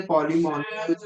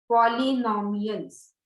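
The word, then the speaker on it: Polemoniales: तर ते मॅम ते पॉलिमॉनियल्स का पॉलिनॉमियल्स? पॉलिनॉमियल्स नाही, पॉलिमोनियल्स नॉट नॉमियल्स. पॉलिनॉमियल इज वेगळं आहे काहीतरी. पॉलिमोनियल्स नॉट नॉमियल्स. आय एम so sorry. पॉलिमोनियल्स इथे फक्त वाय पाहिजे.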